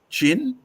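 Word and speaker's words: Qin: case you've forgotten from the state of Quinn Quin chin pronoun chin from which we get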